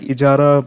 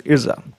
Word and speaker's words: Ijara: So it is pronounced like Ijara, but some sources say as Irza.